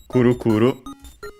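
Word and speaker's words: くるくる: also other extended meaning uh meanings related to that but they don't matter for us uh the moment accented on the first syllable as expected as usual for on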